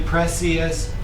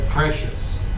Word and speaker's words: precious: press like an sh if you say preious it's okay but precious precious precious precious do